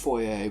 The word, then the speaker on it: foyer: I think it's pronounced foyer because it's a French word.